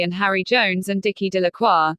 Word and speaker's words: Delacroix: Harry Jones and Dicky delaqua the villagers pronounce this name Delacroix eventually made a great